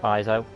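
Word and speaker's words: Ezio: is you know e-z-i-o so i believe everything is pronounced iso uh for those assassins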